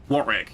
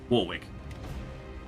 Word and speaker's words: Warwick: Yeah, Warick is an odd town because Yes, an odd name because you do actually pronounce it Warick. You do not pronounce it Warwick.